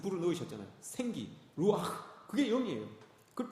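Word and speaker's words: רוּחַ: 구약 성경에서 우리가 잘 알고 있는 이 성령은 성령이라고 이렇게 이야기를 안 하고 루아흐라고 이야기합니다. 히브리 발음으로 그렇게 이야기를 해요.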